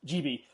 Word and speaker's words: Gibi: Is it Gibi? Is that how you pronounce GB. it? Gibi, Yeah.